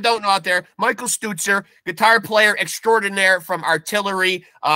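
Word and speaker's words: Stützer: Stutzer. See, you know what throws a lot of people off is that U with the 2 dots over it.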